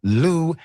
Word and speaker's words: Liu: Jifeng Liu. Dr. Jifeng Louis definitely doesn't exist because that family name is spelled Liu. You'd think an investigative firm wouldn't make that mistake.